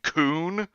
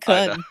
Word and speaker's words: Kun: What, you mean by saying coon? I always pronounced it just how it was spelled, Kun.